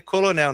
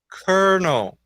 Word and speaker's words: colonel: coronel né mas olha como é que eles escrevem colonel e a primeira vez você ler essa palavra você vai ler colonel não tem nem jeito mas na verdade a a pronúncia dessa palavra é Kel Kel o Júlio tá